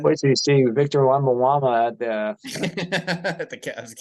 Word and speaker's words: Wembanyama: And Wait till you see Victor Wembanyama at the, at the Cavs game. how do you say the last name? Isn't it Wembyana? I just call him Wemby. Wembanyama. Yeah, Yeah. Wembanyama. Yeah, I just Yeah, call him Wemby.